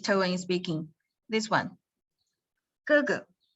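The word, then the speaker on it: 哥哥: This one, 哥哥. The second, we do not pronounce like 哥哥. We do not pronounce like this in speaking. We pronounce like 哥哥. The second is without any tone.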